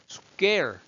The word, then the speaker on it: square: square. 약간 발음을요.